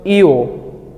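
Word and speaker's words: ㅛ: দেখেন ঠিক ও এর সাথে আরেকটা ছোট দাগ আমরা উপরের দিকে অ্যাড করলাম, এটাকে কোরিয়ানরা পড়ে হচ্ছে ইও।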